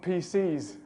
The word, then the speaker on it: PCs: Peter and bits and PCs this this minimal pair actually has a stress difference as well pieces wouldn't have the stress on the second syllable like pcs does and come in for a